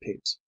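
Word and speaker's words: Pepys: place with that of Samuel peeps pronounced peeps of London whose celebrated diary covers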